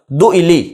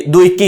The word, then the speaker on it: دؤلی: سیدنا ابو الاسود دؤلی۔ اس کا تلفظ سن لیجئے، دؤلی، یہ حمزہ ہے اور اس کے بعد لام ہے، دؤلی، یعنی اس کو کوئی کاف نہ پڑھ دے، یہ دوئکی نہیں ہے لکھا ہوا، دؤلی۔ مشہور نحات، اس علم